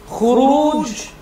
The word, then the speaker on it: خروج: Now listen to how I pronounce it. Khuruj.